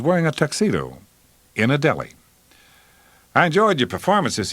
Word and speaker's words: Death: address and telephone number your name is death pronounced de with a long e my grandfather had an